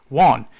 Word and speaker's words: Juan: But when I saw his name, I would say, "Oh, how are you doing, Jan?" He goes, "Why did you call me Jan? You know, it's pronounced Juan."